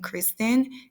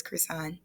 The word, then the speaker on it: Kristann: a lot of um people pronouncing it the actual regular American way as in Christian it is actually pronounced as croissant my three famous quotes